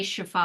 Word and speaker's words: Shefali: Shefali Sabari. Did I pronounce that right? How do I say that? Sabari, but you could even just say Shefali.